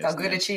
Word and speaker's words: Del Giudice: Del Giudice, yep.